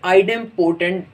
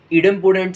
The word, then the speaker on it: idempotent: इनमें से पहले नंबर के ऊपर क्या चीज़ आ रही है, आइडेंपोटेंट सेट्स, या फिर इसको पढ़ने का एक और तरीका भी होता है इडेंपोटेंट सेंस, मगर दोनों सूरतों के अंदर प्रोनाउंसिएशन खाली डिफरेंस है।